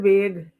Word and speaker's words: vague: Uh, you pronounced a word vague.